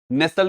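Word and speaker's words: nestle: इन सभी जगहों पर आपने टी को पढ़ा ही नहीं है, टी को साइलेंट ही कर दिया है, सब जगह पे टी साइलेंट हो गया।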